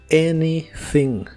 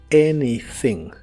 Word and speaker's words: anything: en una idea negativa la a del inicio se pronuncia como e y la th es la th suave de inglés que la hace soplando